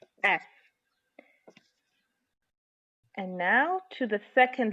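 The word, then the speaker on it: فاء: Fa is the counterpart of the English sound f and ph, the f sound and the ph that are pronounced by pressing the top front teeth against the bottom lip, this one, and releasing as you blow air out, like this.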